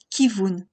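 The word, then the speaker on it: כיוון: naturelle et par exemple dans le mot kivun il ne s'agit pas d'un doublement volontaire mais bien d'un V en tant que consonne V suivi de la voyelle chorou pour le son ou les deux lettres se prononcent naturellement vous k voun récapitulons le doublement du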